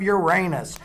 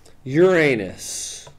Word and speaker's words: Uranus: the tourist town of Uranus, which is pronounced the way any self-respecting class clown would say it. Uranus. Not Uranus. Not Uranus.